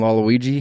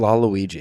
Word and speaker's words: Waluigi: and Waluigi Waluigi Waluigi I can tell you're unfamiliar Wario and Waluigi Waluigi you're fine it's like Laona um Wario and laigi I just need to hear you say it right just for me because it'll piss me off if if you don't Wario and laigi what a concept just get it right we can cut around